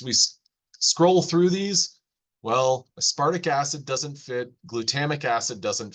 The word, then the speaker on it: aspartic acid: So whenever they said, or whenever someone says aspartic acid, that RT sounds almost like the letter D, aspartic acid.